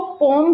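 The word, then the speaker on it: poem: इज द पोयम देखिए इसे हम दो तरीके से प्रोनाउंस करते हैं अक्सर हम जो इंडियंस है ज्यादातर पोयम ही बोलते हैं या फिर इसको पोम भी बोला जाता है तो आप दोनों तरीके से जो भी आपको सूटेबल लगे आप प्रोनाउंस कर सकते हो व्हाट इज द टाइटल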